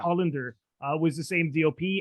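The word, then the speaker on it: Holender: not realize that uh adam hollander i believe he pronounced his name hollander yeah yeah hollander uh was the same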